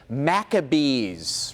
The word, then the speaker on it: Maccabees: Maccabees, rhymes with mac and cheese, right?